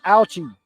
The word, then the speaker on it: Ouchi: Yes, that is spelled the way it sounds. Ouchie. O U C H I.